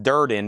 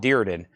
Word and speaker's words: Durden: While we're at names, my last name is pronounced Durden, not Dearden.